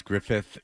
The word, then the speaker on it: Griffith: Griffith I notice how I have to over pronounce Griffith because it drives you insane when I don't get it right that they um that